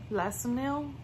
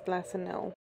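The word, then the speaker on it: Lansinoh: and I have the Lassonil. I hope I'm saying it right. And no, I was not saying it right. It's Lassonil. Lassonil has been the pump that I've used since Scarlet.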